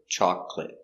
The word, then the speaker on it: chocolate: have a silent syllable they look like three or four syllables but one syllable is silent chocolate Catholic broccoli actually